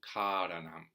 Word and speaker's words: kāraṇaṃ: So it's got a long first syllable, karaṇaṃ. That distinguishes it from karaṇaṃ, which means acting.